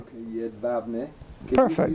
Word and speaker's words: Jedwabne: Jedwabne. J is pronounced like a Y. Yeah, okay. W is pronounced like a V. Jedwabne. Okay, Jedwabne.